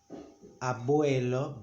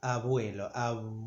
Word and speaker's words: abuelo: If it's in the middle of the word, we, due to Arabic influence, we make it V. We don't say abuelo, but abuelo.